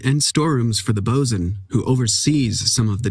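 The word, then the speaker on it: boatswain: you'll notice that uh boat Swain is is pronounced bosen they do a lot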